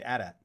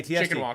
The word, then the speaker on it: AT-AT: apparently, like in terms of like actual canon and how you pronounce it, it's AT-AT.